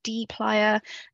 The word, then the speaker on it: dplyr: It's kind of written out here how to say it, dplyr.